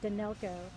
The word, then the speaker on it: Danylko: Pronunciation is Danylko, 91 years of age, who lived in one of the condominiums.